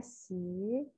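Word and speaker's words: 习: Nah, ini gambarnya si, bacanya si.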